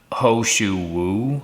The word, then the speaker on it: He Shou Wu: So I think the Chinese name, it's pronounced Ho Shu Wu, I think, but it's spelled He Shou Wu.